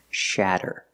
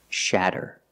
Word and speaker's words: shatter: about this word shatter we see the letter A making a short ah sound like black cat shatter to make the sound ah put the tongue down in the front behind your teeth and then up in the back shatter don't do it too much not Sha sha shatter is a verb it